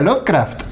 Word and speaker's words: Lovecraft: que me llamó la atención es lovecraft se pronuncia lovecraft esas cosas que siempre las vemos por escrito